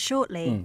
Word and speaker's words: shortly: 이런 sure 발음이 이제 미국인들은 T 발음 안 합니다. shortly 이렇게 읽고요. 이제 영국이나 호주 계통은 좀 사는 편인데 그래도 안 하는 걸로 갑시다.